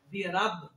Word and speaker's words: برب: اکثر نے صحیح پڑھا ہے، ہم کیا کر دیتے ہیں برب، برب صحیح تلفظ کیا ہے برب، برب الناس.